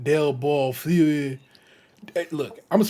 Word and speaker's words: Bellefeuille: It's probably Foyle, Bellefeuille, de Bellefeuille en français.